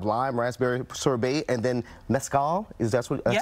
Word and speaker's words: mezcal: uh we have lime raspberry sorbet and then Mezcal is that's what that's how you say it